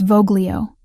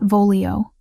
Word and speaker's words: Voglio: It's Voglio, not Volio. Soft G.